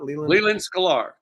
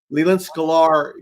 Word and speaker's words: Leland Sklar: Leland Sklar. Leland Sklar, give him the link to that.